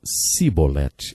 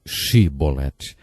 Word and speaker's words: chibolete: regiões do nosso país eles não conseguiam pronunciar o som CH e por isso diziam sibolete ao invés de chibolete jeft degolou 42.000 homens